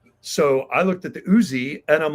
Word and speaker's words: Uzi: But I remember getting Snake Eyes, and I was obsessed with him and his gun, which I called the UZI gun, because on the packaging, it's spelled Uzi, capital U, capital Z, capital I.